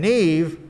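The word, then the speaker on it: Niamh: and neve kinnor uh ocean is spelled o s i uh o s o i n it's an irish uh spelling uh and neve is spelled n-i-a-m-h it's it's not a phonetic language uh neve kennar is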